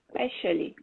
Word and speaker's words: especially: Especially. Good, good, that's it, especially. But back there, you said especially. So we don't have that X sound here, simply especially.